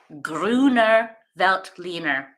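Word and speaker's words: Grüner Veltliner: here we go so here's how you pronounce it here it is again gr I feel like I'm saying it pretty good gruner velt leaner so that is the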